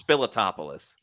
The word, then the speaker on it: Spiliotopoulos: tried to pronounce it I think it's spiliotopoulos okay spillis yes you're right see I can see